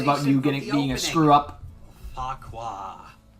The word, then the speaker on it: Farquhar: Farquhar. It's actually pronounced Farker. Did you just swear in front of the passengers? No, that's... That is how it's pronounced, but Farquhar, it sounds much better.